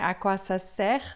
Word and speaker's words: sert: A quasser no presente. O T final a gente não fala servir em francês ou em português é a mesma forma.